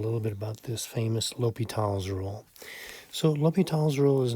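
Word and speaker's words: L'Hôpital: that goes over there but either way is pronounced l'hopital so if you remember some of these limits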